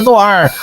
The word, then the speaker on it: Noir: Se escreve Noir, mas se pronuncia no ar.